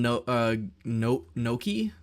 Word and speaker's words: gnocchi: But yeah, I made some gnocchi. It's spelled gnocchi, but it's pronounced something completely different.